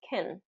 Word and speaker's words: can: And a lot of times this word is confused, can and can't, because really can is typically pronounced as kin, because it's unstressed.